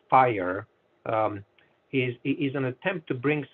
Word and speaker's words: FHIR: Yeah, so the FHIR, it's actually pronounced fire, is an attempt to bring some homogeneity in data formats.